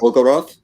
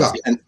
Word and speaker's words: Bulgakov: Bulgarov. Yes, Bulgakov.